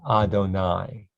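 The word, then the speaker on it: אדני: This is a convention of writing God's name. It's pronounced Adonai, which means my God. It's not pronounced the way you might sound it out.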